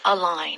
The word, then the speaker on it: align: line in it it's spelled differently a l i g n but it's like you are taking two lines and putting them on top of each other so if we're talking